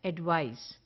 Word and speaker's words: advice: beneficial course of action it rhymes with mice the way we say mice the same way we say advice so the sound is ice mice ice advice so we will pronounce it as advice the the identify to